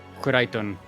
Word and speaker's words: Kureiton: For those wondering, that is actually how you're supposed to pronounce it, because we asked Kureiton how to pronounce the name, and they said that it's basically Clayton, but in a Japanese accent.